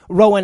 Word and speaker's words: Rowan: and has always pronounced Rowan in every example I can find think Rowan Atkinson it's the same name and unless of course